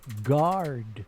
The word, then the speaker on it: guard: Collect the letters of the word guard in the proper order. Remember the U is silent.